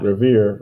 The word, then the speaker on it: Revere: thud and that's why see revere rhymes with here and that's why he